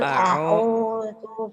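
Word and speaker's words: أعوذ: Jangan angu, a'u. Qul a'udzu birabbin nas.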